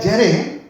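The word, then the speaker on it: ירא: El temor en hebreo se escribe o se pronuncia yaré y que significa miedo. En este contexto significa miedo.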